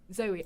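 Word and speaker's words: Zawe: And in it said, because her name is spelled Z-A-W-E, and it said, Zoe as in Bowie.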